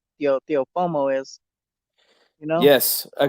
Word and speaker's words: Teofimo: Yeah, Teofimo he's a Lopez.